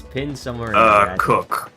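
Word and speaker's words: Coacoch: Cook. Pronounced, Oh, it's spelled C-O-A-C-O-C-H. It's or like coach. let bro But it's pronounced cook.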